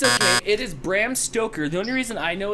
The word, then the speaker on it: Stoker: That might be the first time you actually said it right. Stoker? Yeah. Stroker. That's usually what you say.